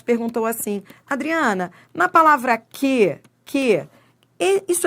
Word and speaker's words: que: Porque esse U não é pronunciado. Isso aqui é um dígrafo. Isso aqui é um dígrafo. Entendeu? Olhe para mim. Se é um dígrafo, isso você vai aprender já já. Se forma um dígrafo, então não forma um ditongo, porque ele não é pronunciado, esse U. Então ele não tem som.